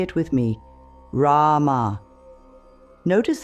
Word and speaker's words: Rama: Rama flows like a gentle river. The R is soft, almost like a D. The first A is long, like in father. The M bridges to the final A, which fades away naturally.